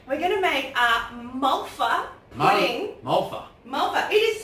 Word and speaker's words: Malva: We're going to make a Malva pudding. Malva. Malva. It is spelled M-A-L-V-A. So how would you say that? Malva. Malva. Yeah. Most people would, but not South Africans. They say Malva.